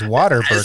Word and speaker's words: Whataburger: It's Whataburger.